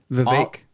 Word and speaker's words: Vivek: if he's in jail because vivac is Vivek the vivec Vivek he said it rhymes with cake the vague uh his